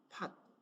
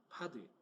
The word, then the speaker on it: pod: 거를 많이 들어봤을 겁니다 팟 파드 뭐 어떻게 발음을 해도 상관은 없겠지만은 저는 파라고 부르겠습니다네 어 파라고 하는 거는